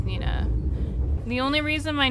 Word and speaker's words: Neeina: it you know it's it's pronounced the same way as Nina the only reason my